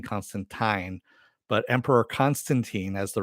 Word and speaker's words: Constantine: Yeah, supposedly I guess Gaiman like schooled somebody on Twitter that that's the way it's always been pronounced as Constantine, like wine.